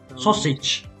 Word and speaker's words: sausage: Ah, recuerda que cuando ve esto, GE, la E no se pronuncia nunca, ¿vale? Es muda. Pero me está diciendo que la G es suave, es como sh, ¿vale? Sausage. ¿Vale? Y cuando termine una palabra en AGE, si quieres ponerlo por ahí, se pronuncia como itch. Itch.